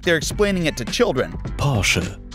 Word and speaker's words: Porsche: Porsche. Porsche.